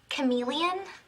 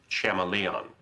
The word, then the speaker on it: chameleon: Um, Professor, uh, do you mean Chameleon? Betty, I'm pretty sure it's pronounced Shamaleon.